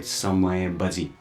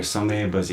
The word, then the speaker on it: Samay Baji: And in Newari language, we call it Samay Baji.